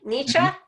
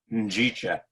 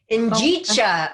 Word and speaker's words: Njicha: It's a Swahili word. She can't pronounce it. It's Nietzsche. not nice try. Nice try. Njicha. Njicha.